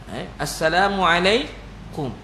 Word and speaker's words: Assalamualaikum: Nak pahala kena ikut lafazkan dengan lafaz yang betul. Assalamualaikum, assalamualaikum, kum, kaf mim je. Ejaan Melayu memanglah kaf waw, kaf KAKUM. Tu KUM, U tu bukannya mat. U tu dipanggil baris depan.